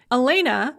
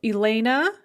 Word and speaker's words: Elena: The ah sound at the end of the name is unstressed in both versions and is pronounced as a kind of an or what's called a schwa sound. So Elena, Yelena. In both cases, the ah is not pronounced ah, but So how